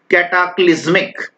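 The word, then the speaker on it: cataclysmic: को ध्यान से करिएगा, कैटाक्लिज्मिक, कैट आ क्लिज्मिक, इस तरह से इसको प्रोनाउंस करेंगे, कैटाक्लिज्मिक, कैटाक्लिज्मिक।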